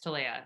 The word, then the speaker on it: Talea: I am unfortunately guilty of pronouncing it wrong. That's okay. Saying Talea, or I've been saying Talea, but it's Talea.